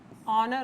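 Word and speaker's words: honour: इन सब के अंदर बेटा साउंड आप देखेंगे एच कैपिटल, सॉरी एच जो है साइलेंट है।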